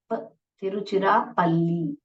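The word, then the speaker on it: Tiruchirappalli: फिर पल्ली तिरु चिरा तिरु चिरा पल्ली ओके तिरु चुरा पल्ली तिरु टी एच टी आई आर you Tiru C एच आई आर ए पी तिरु चिरा पल्ली ओके तिरुचिरापल्ली ऐसे प्रोनाउंस करते हैं कैसे प्रोनाउंस करते हैं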